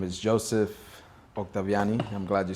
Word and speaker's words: Octaviani: you to introduce yourself my name is Joseph octaviani I'm glad you said it right um I